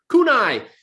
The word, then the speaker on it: kunai: and longbow and half bow and you have kunai how do you say that yeah you did it you did it kunai you got kunai and sticky bombs and black